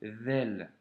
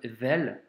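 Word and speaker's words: ذال: Donc, premièrement, la lettre Vel doit se prononcer comme si tu avais un cheveu sur la langue, hein. Donc, c'est pas un Z et c'est pas un D, c'est un V.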